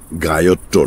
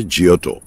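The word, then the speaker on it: Giotto: গায়ত্তো নয়, ইংরেজি উচ্চারণে জিয়োটো, ইতালিয়ানে জিয়োটো, জিয়োটো, বট্টিসেল্লি, মন্টেগনা।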